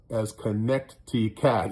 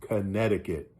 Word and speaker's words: Connecticut: But yeah, that C is silent, so it's just Connecticut.